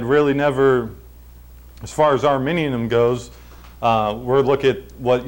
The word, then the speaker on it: Arminianism: Now, is this pronounced Arminianism? Yeah. All right, good. Now, there's an ethnic group of people that's pronounced something else, right? Yeah. How's that? Well, it sounds the same, but it's spelled different.